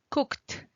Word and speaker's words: cooked: Aunque a veces suena fuerte como una T, así es como suena en pasado. La E no suena.